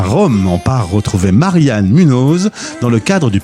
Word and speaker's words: Marianne: les les Italiens disent Marianne euh alors je leur prononce toujours Marian puisque le E se prononce e parce qu'autrement c'est la